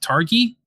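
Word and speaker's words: Targi: one I'll talk about tonight I believe it's pronounced Targhee T argi and I'm gonna try and explain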